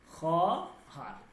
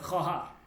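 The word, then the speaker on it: خواهر: না উচ্চারণ হবে না ওকে উচ্চারণটা কি হবে উচ্চারণ খহার ওকে এইভাবে হবে খহার ঠিক আছে মানে হচ্ছে বোর্ড খর মানে কি বোন ক্লিয়ার এই ওয়াওটা উচ্চারণ হবে না।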